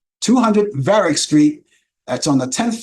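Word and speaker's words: Varick: it's located at 200 varic Street that's spelled v a r i c k that's varic Street 200 veric Street that's on the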